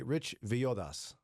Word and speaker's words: Villodas: It looks like it should be Rich Villodas. Yeah, Yeah. he's Puerto Rican. I want to honor my Latino brothers and sisters by pronouncing the double L correctly.